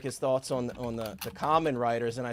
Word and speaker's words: Kamen Rider: I think you told me it was Kamen Rider, right?